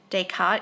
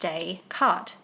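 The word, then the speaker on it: Descartes: how to pronounce dayart dayart is pronounced dayart dayart was French so we pronounce d s as day and the final s is silent okay french lesson is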